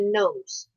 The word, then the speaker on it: gnome: Or, wait, maybe dwarfs don't, and it's only gnomes. Or gnomes, depending on how you want to pronounce that. Some people argue that the G is silent, some people do not. To me, it's a gnome.